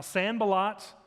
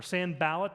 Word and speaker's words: Sanballat: primary characters are now Sanballat or Sanballat depend upon how you want to pronounce his name samba lot is someone